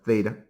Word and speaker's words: theta: This is pronounced phi. All right. We know theta, but let's just remind ourselves that's theta.